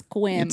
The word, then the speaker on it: Sequim: Is it Sequim? That's how it's spelled. Yeah. Yeah, I was like, ew, Kelsey, that comes from a town called Sequim. And she goes, it's Squim.